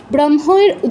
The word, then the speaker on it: ব্রহ্ম: তাহলে ব্রহ্ম ঋষিহি ব্রহ্মের যুক্তাক্ষরটা যদিও হম ম কিন্তু হ এর সাথে যেহেতু একটা অনুনাসিক্য ধ্বনি যুক্ত হয়েছে তাই অনুনাসিক্য ধ্বনিটা আগে উচ্চারণ করতে হবে। ব্রহ্ম না হয়ে ব্রহ্ম হবে।